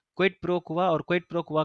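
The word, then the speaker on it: quid pro quo: ठीक है, इसको हम प्रोनाउंस करते हैं क्विड प्रो क्वा।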